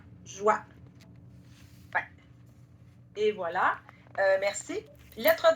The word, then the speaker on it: joie: On prononce vraiment le son oua, joie.